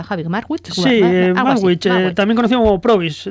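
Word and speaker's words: Magwitch: ¿Cómo se pronuncia? Javi Marwit.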